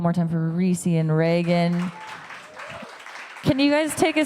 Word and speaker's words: Revgan: You still pronounce it Reagan, but it's just with an upside down A, because Rev also means dream in French, and I like that.